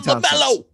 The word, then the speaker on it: LaMelo: My son LaMelo rhymes with Jello, pudding pops.